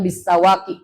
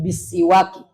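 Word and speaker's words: بسواك: tapi dia kasrah jadi bacanya bukan bisawaqi tapi bisiwaqi karena posisinya di bawah tasdid jadi bukan fathah dia kas kas kasrahwi fafiiun waun Wahai Ali, hendaknya kamu bersiwak.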